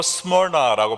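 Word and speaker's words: Smyrna: 고난이라는 뜻을 갖고 있습니다 영어로 스몰아라고 발음을 하는데요이 이름은 모략을 의미하는 멀에서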